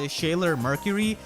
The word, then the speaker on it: ShailorMercury: This is actually made by ShailorMercury, and no, it's actually pronounced like that.